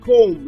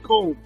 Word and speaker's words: comb: in this word it's comb not comb the B is silent it's comb the same thing with